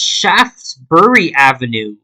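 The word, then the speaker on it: Shaftesbury Avenue: So, it's actually pronounced Shaftsbury Avenue. So, the E is silent.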